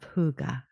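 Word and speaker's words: hygge: like to share the book of Huga and that's spelled Hy G G and it's the Dana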